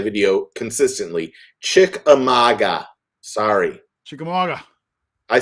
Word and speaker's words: Chickamauga: wrong in my video consistently chick amaga sorry chickamauga i say chickamagua or think or whatever the